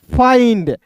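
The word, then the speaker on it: find: एफ का फ हो जाएगा और आई एन डी है दोस्तों, तो इसका उच्चारण आइंड के रूप में करेंगे तो हो जाएगा दोस्तों एफ आई एन डी फाइंड।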